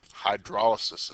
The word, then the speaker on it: hydrolysis: Hydrolysis is how you pronounce that.